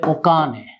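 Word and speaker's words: お金: এই কাঞ্জিটার উচ্চারণটা হচ্ছে ওকানে।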